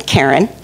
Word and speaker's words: Karen: k a r n karen but but it's pronounced Karen like the car in the garage Karen and um she